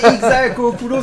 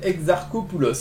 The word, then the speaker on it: Exarchopoulos: Alors, c'est Adèle Exarchopoulos. Ah, j'étais pas loin. Exarco, je l'avais pas eu le R.